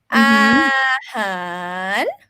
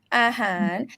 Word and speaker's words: อาหาร: So the first syllable is mid tone because all ang belongs to middle consonant class. And the second one, the second syllable, han, ho, he belongs to high consonant. The first tone without any tone marks is rising tone.